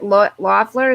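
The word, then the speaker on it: Loeffler: kelly loffler lloyd fleur loffler is how you say it kelly okay kelly lynn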